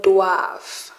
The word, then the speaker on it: doivent: Elles doivent, they have to. Doivent, don't pronounce the NT.